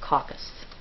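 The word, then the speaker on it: coccus: arrowead shape and the singular for coxy is pronounced caucus the next shape that you'll see is called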